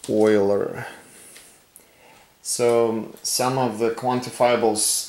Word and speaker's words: Euler: by using euler diagram by the way it's pronounced euler so some of the quantifiable arguments that have